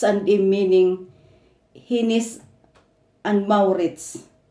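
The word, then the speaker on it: Hennes & Mauritz: They called it here in Sweden, Hinnis och Maurits. And I will read about Hinnis and Maurits or Hoim. Hinnis and Maurits Abbey, or they pronounce it Hinnis och Maurits, or It's and Im, is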